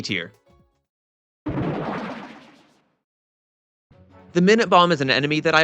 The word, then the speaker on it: Minute Bomb: As an aside, the Japanese pronunciation indicates that it's definitely the Minute Bomb and not the Minute Bomb, just to put that discussion to rest.